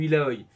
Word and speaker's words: Illaoi: Euh, Autre perso que Brand qui proc très bien avec la Dark Harvest, c'est Illaoi, ou Illaoi, pour ceux qui le prononcent correctement.